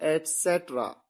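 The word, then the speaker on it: et cetera: एटसेट्रा, ये ETC डॉट की full form है, इसे कई बार आप गलत तरीके से प्रोनाउंस करते हैं, यह है एटसेट्रा, आदि या इत्यादि।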